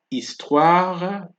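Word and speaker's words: histoire: from the o right the H is silent here you have estwara and not history and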